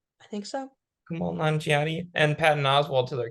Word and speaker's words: Kumail Nanjiani: But the new Ghostbusters sequel just added Kumail Nanjiani. Is that how you say his name? I think so. Kumail Nanjiani and Patton Oswalt to their cast, which is very exciting.